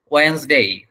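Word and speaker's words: Wednesday: হচ্ছে, বাট ওইটা না, এটার উচ্চারণ হচ্ছে ওয়েন্সডে, ওয়েন্সডে, এটা উচ্চারণ আমি লিখে দিচ্ছি আপনাদের। মাঝখানে হচ্ছে দন্তন্য আছে, এটা দন্তন্য মনে করেন আর কি, ওয়েন্স, ওয়েন্স, লাস্টে বর্গের যদি আপনার উচ্চারণ হবে ওয়েন্স। তারপরে এটা হচ্ছে ডেই, ডেই, আমরা যেটা বলে থাকি ডে, ওটা ডে না, ওটা হচ্ছে ডেই, ডেই, ডেই, তাহলে হবে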